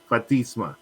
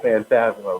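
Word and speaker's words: Fantasma: But listen, you got to applaud me because I got my Spanish accent now every time I say Legado del Fatisma. Even though it's Phantasma, but okay.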